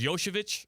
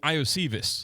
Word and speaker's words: Iosivas: They've drafted well with receiver because Yoshevich, is that how you say his name? Yeah. Yoshi? Yeah, I didn't know that's how you pronounce his name until last night. Yeah. I was saying Iosivas, like in fantasy football.